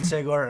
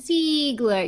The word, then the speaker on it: Sigler: I love how you say our names. You have a New York accent and you say it right. What do people normally say? They We're in Texas right now, you know? We don't hear Yeah, but I get like genuine Seagler.